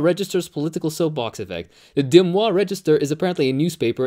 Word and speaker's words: Des Moines: in the states uh how is that actually pronounced des moines des moines okay my bad des moines has 215 000